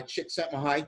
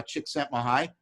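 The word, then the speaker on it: Csikszentmihalyi: was made famous by chicks at my height that's how you pronounce that series of letters uh chick sent my high in 1990 in his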